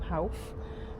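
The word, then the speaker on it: Howff: It's called the Howth. I think that's how you pronounce it.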